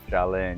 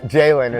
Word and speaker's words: Jalin: Jalin, yes sir. Or Jalen is how most people pronounce it.